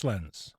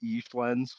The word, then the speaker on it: Eschlenz: picker today's guest is eens say hi hello now I pronounced your name right correct uh it's it's actually eans so it's okay well